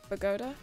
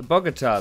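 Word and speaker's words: Bogotá: But I was wondering about like Bogota. Yeah, that's not bad. Bogota. Is that how you say it? I'm so sorry. Bogota, the capital of Colombia.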